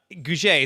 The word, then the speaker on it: Gouge: welcome the show with me matt and uh guje is how you pronounce it correct matt you nailed it nailed